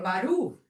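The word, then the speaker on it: ברוך: and if you don't say Baruch, if you say Baru or Baruch, you're saying a different word.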